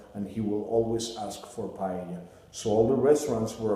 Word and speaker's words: paella: Number one is not pronounced paella, it's pronounced paella.